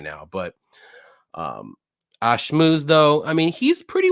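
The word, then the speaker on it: Ashmouz: We got Trevor Peak versus Yanao Assmouth. Whoa! Assmouth. What? Say it again. You pronounce that. 5 minutes in, baby. No, Ashmooze.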